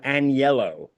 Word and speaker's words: Agnello: um yeah it's uh anello and yellow yeah so I always spell it for people to pronounce it a an and then the word yellow you know what I